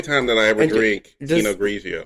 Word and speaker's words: Pinot Grigio: The only time that I ever drink Pinot Grigio. Does Pinot have a T at the end? Even though it's Italian? Yes, even though it is Italian.